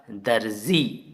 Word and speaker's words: दर्जी: ऊपर छोटा सी लगा है तो जी के पहले रा का उच्चारण आएगा और ये नुक्ता वाला जा है तो जा, दर्जी, दर्जी।